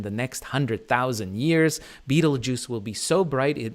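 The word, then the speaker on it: Betelgeuse: by balatrix and beetlejuice you've probably heard of beetlejuice before or betelgoose as some are in some pronunciations but of course its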